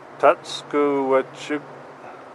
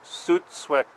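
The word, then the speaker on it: Tsútswecw: adams river salmon society tutsco park interpretive trails i don't think i pronounced that correctly i'm apologized so i think that we've worked out that that's pronounced suit sweck you are here so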